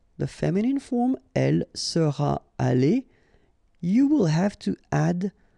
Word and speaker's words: allée: You don't pronounce it, but still you need to write it.